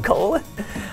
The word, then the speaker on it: Colon: Colon. Is it pronounced? It's Colon. Colon. I did not know that actually.